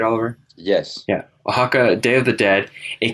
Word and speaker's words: Oaxaca: Now, he is also the director of Oaxaca, Day of the Dead. Did I pronounce that right, Oliver? Yes. Yeah. Oaxaca, Day of the Dead, a collection of 8